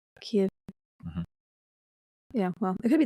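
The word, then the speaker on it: Kyiv: K is it Kev I think they pronounce it ke ke we've always said it Kev sounds like you said a Kia like a car right right but I'm I'm putting a v on the end Kiev Kev yeah well it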